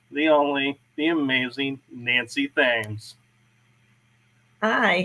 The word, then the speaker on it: Thames: I pronounce my last name Thames, like the Thames River in England.